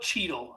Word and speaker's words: Chytil: Uh, Philip Chel Heedle, but it's spelled chl, but it's spelled weird. Philip Cheetel. I I another name you can add to the botch list for me. Um what's unfortunate about this